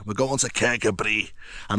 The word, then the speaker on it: Kirkcudbright: Well, that's how it's spelled, but apparently it's pronounced Kabri. Kabri. We're going to Kabri.